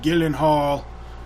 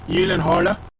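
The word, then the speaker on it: Gyllenhaal: the movie Life with Jake Gillen hall or how it's really pronounced Gillen Halla they he was on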